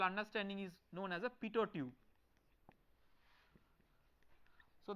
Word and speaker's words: Pitot: is known as a PTO tube so the last T is silent so it is pronounced as PTO tube okay so this